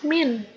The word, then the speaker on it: mint: Yang ketiga adalah mint.